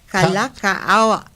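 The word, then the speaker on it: Kalākaua: according to King David of Kalaka. I can't I can't pronounce it. Kalaka. Kalakaawa.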